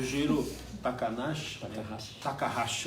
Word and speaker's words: Jiro Takahashi: Bom, o Giro Takahashi, essa é a pronúncia, né?